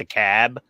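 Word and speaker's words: DeKalb: e k lb but no one pronounces the L it's just a cab um which I got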